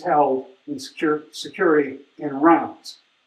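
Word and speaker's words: Reims: All the paraphernalia of coronating French kings, crowning French kings is held in sec security in rounds. Pronouncing correctly now is rounds in the French way.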